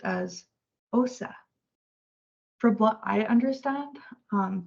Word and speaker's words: osa: pronounced as and in Spanish uh bear is pronounced as Osa from what I understand um they combine the